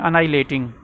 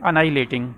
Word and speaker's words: annihilating: उसको कहते हैं अनाइलेटिंग। ठीक है, ANNIHILATING। ठीक है, इसका जो उच्चारण है वो है अनाइलेटिंग। ठीक है, दूसरा है पॉलिटिक्स एंड रिलीजन, राजनीति और धर्म।